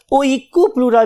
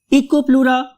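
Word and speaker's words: Oikopleura: इको, eco, right, eco and then प्लूरा। बहुत से लोग इसको याद करने के लिए ओइकोप्लूरा भी कहते हैं, राइट, इकोप्लूरा और ओइकोप्लूरा, जो भी आपको अच्छा लग रहा है।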